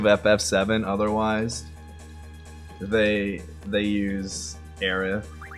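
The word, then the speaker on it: Aerith: It's really not I wouldn't call it like a mistransation like like the th sound is not in the Japanese like phonicon.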